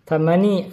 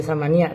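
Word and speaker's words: ثماني: Thamani, karena ini ada mudzakkar jadi thamani asyrata. Gak dibaca samania, thamani.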